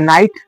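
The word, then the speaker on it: knight: নাইট। তাহলে কে এন আইজি এটি কি উচ্চারণ হয়? নাইট। নাইট মানে হচ্ছে ঘরা। কে এন আই জি এইচটি আমরা বলব আমরা লিখব। কিভাবে উচ্চারণ করব? নাইট।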